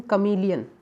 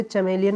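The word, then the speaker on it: chameleon: Pronunciate करिएगा सही से, इसे बोलते हैं कमीलियन। क्या बोलेंगे इसे, कमीलियन। इसे चमेलियन मत बोलीजिएगा, चमेलॉन मत बोलिएगा, इसे खमीलियन बोलिएगा, कमीलियन, है ना, कमी वाला कमीलियन, है ना।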